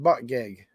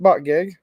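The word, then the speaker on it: Buttigieg: you pronounce his name I think he pronounces it Pete but gig I think that's the pronunciation of his name phonetically anyways Pete but gig she's leading him by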